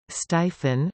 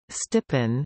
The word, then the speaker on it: Stephen: Stephen, Stephen in Stevens, Stevenson equals I Stephen or I stippen, the ph digraph has an f sound rather than a v, even in standard Philippine English.